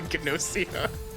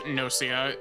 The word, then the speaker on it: Gnosia: I assume you don't pronounce the G. I assume it's not Gossia. I'm not a Gelf. I'm not a Gnoblin. I'm a Gnosia. In English, Nosia.